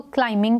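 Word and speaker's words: climbing: इस क्लाइंबिंग D mountain क्लाइंबिंग में बी जो है वो एक साइलेंट लेटर है हम इसको क्लाइमिंग पढ़ेंगे बी को प्रोनाउंस नहीं करेंगे ही रब्बड डेट रेस्ट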